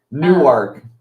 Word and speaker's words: Newark: what it was because that's not how you pronounce it. Correct. Newark. Newark. Whatever. It sounds like New York.